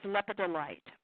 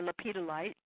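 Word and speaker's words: lepidolite: carnelian and so does lepida light or Lapita light depends on how you want to pronounce it but that also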